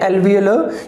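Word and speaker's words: alveolar: और एल्वियोलर की अपन बात करें तो ये कैसे बनते हैं एल्वियोलर? क्योंकि इसमें आर साइलेंट रहेगा, ठीक है।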